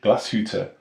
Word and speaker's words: Glashütte: of the company's name I think it should be pronounced glass Hooter origonal please don't laugh Isabelle but I'm not absolutely certain nevertheless one thing is